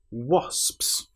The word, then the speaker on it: wasps: Now this word is quite hard because you have the o when it looks like it should be a but it is o is the correct pronunciation. And then you've got so s ps wasps.